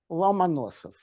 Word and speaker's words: Lomonosov: Please pronounce this guy's name. Lomonosov.